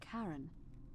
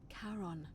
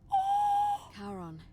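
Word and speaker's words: Charon: The name you heard wasn't Karen. It was C H A R O N. as in Karon, the fairyman of the dead. Karon, who in exchange for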